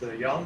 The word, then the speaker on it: Jan: Yeah, it's Jan. That's correct pronounced.